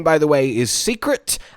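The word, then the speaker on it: Seikret: by the way is Secret at least I think it's pronounced secret secret secret I feel like it's secret s e i k r e t in any case a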